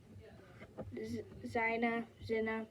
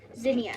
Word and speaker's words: zinnia: Alright, now last but not least, the Zina. I'm sorry if I'm pronouncing this wrong. I didn't practice the pronouncing that well. Zinnia, sorry. I'm pretty sure it's a zinnia.